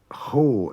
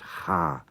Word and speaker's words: cha: Now, ho is very rarely pronounced like that. It's always pronounced ha, C-H-A.